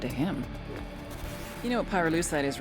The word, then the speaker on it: pyrolusite: him you know what py lucide is right yeah neither did I pyrolusite key syllable pyro by the way is